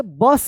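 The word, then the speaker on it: bus: बस पढ़ेंगे। इसको बुश मत पढ़िए।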